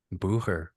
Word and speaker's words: Bucher: Um uh Bucher, right? That's how you that's how you pronounce that. Bhar. Bher.